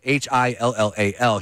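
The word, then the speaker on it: Hillel: And he got talked into it by the guitarist who passed away, Halal. I forget how to say his name. Halal? Yeah, Hillal.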